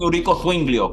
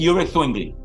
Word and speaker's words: Ulrich Zwingli: En español le dicen Eurico Zwinglio, pero es Ulrich Zwingli.